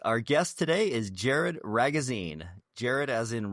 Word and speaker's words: Ragozzine: Our guest today is Jared Ragazine. Jared as in rhymes with magazine. Jared Ragazine.